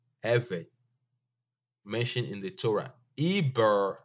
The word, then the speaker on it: Eber: Eber, as you read it from um, left to right, is not the ancient Hebrew pronunciation. This is the Indo-European languages style of pronunciation. It's now read Eber. It's Ever. You read it from right to left, and the B is only by default.